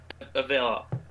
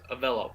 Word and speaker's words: Avelo: It's this other airline out in the west, like it's Avela. Can't pronounce its name. It's Avelo. It's Avelo Airlines.